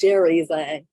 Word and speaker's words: Jerry Zhang: talking about it, and I got his name wrong. It's Jerry Zhang. I thought it was Peter before, but Jerry Zhang, who like